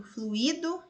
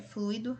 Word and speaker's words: fluido: Muitas pessoas tendem a pronunciá-las acentuando um possível hiato, fluido e gratuito. Mas na escrita formal é preciso perceber que esse hiato não existe, é fluido e gratuito.